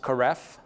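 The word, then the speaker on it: Korev: beaches I had this beer it's actually apparently pronounced Karev it's a Cornish beer so st.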